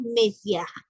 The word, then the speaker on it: Monsieur: Luego tenemos Messier, lo que se escribe Monsieur.